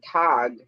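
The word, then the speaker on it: tautog: pronounce that word what it's t-a-u-t-o-g say that again they're called it's called a tog it's either white chin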